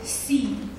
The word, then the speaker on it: Xi: Last name is Xi. It's very difficult to pronounce for foreigners.